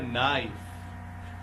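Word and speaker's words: knife: आर फर्क इट्स अ नाइफ नाइफ में के लगा तो है पर वो साइलेंट है उसकी कोई आवाज नहीं है इसे नाइफ बोला जाता है दे आर नाइव्स इट्स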